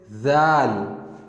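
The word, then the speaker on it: ذال: So we pronounce it zal, zal, zal. The previous letter was dal, and this one is zal. And if we compare it with English letter, we can say that it sounds like Z.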